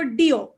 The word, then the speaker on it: Deo: और उस देव में भी बड़ा कंफ्यूजन होता है लोगों को, क्योंकि द स्पेलिंग इज DEO और लोग पढ़ते हैं उसको डीओ।